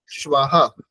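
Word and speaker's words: শ্বঃ: এখানে তালব্য স এবং ব, তারপরে বিসর্গ। স্বাহা স্বাহা স্বাহা, উচ্চারণ করুন সোনালী নাথ।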